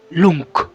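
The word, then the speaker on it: Jung: dijo un amigo alemán no se pronuncia yang se pronuncia lunk para decirlo correctamente porque la en alemán la J se pronuncia como L y la g como c Entonces como para para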